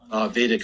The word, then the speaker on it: Vedic: So in the Vedic, it's, people say Vedic or Vedic, but it's the Hindus pronounce it Vedic. So I had one Hindu get on my case about pronouncing it wrong, but I do both just to kind of let Christian or the Westerners, you know, I think he can really pronounce it both ways.